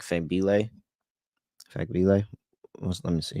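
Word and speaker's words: Fagbenle: And then um what's the other backup power forward, like Fembile? Fagbile? Let me see how you pronounce her name. Where's she at? Yeah, Fagbile.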